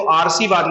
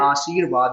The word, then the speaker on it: आशीर्वाद: अगर इसको देखे तो आर्शीवाद लिखा है जबकि होकर कैसे यह आशीर्वाद होता है आवाहन नहीं होता आसान